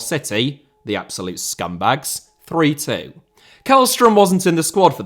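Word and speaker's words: Källström: had returned all told kellstrom or shellstrom as I believe it is properly pronounced in Swedish Play Just 135 minutes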